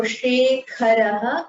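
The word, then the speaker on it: शेखरः: Now, for Shekharaha and Meghaha, you have to use the Mahaprana Kha and Gha. Can you pronounce that one more time? Shekharaha. Shekharaha, Meghaha. With the breath coming out of your mouth.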